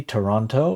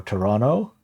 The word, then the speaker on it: Toronto: But yeah, like my my go-to example is uh the the Canadian city Toronto or Toronto, right? You have three O's in there and every O is pronounced differently and you have two